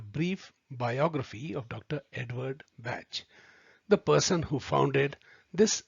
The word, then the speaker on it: Bach: His name is to be pronounced as Bach and not the German pronunciation of Bach. Bach rhymes with match or catch, and he used to